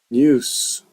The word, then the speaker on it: news: So, one thing I don't like about Japanese is news. In English, uh, this word is spelled with an S, but it's pronounced like with a Z.